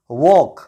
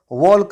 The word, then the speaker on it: walk: वॉक की spelling है WALK। इस वर्ड में भी ए के बाद एल आया है और एल साइलेंट होता है। इस वर्ड को मैंने वॉल्क नहीं पढ़ा है, इस वर्ड को मैंने वॉक पढ़ा है।